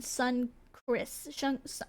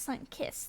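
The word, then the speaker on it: Sunkist: There's no R in it, but it just feels like there should be an R in Sun Chris. Sun Chris, right? But no, it's Sun Kiss. That's weird. It's spelled like KIST, not kissed.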